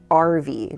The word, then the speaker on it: Arvie: using a service called RV. Now, it sounds like RV, but it's spelled ARVIE, and it's the sponsor of this video.